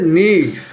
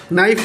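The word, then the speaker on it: knife: এবার হচ্ছে নিফ, নিফ নাইফ বলা হয় আর কি, যাই হোক নাইফ, নাইফ মানে কি ছুরি।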